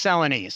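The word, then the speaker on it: Celanese: How did you first get involved with United Way Dallas and was it through is it Salanise? Am I pronouncing that right? Yeah, it's Selines. Selines.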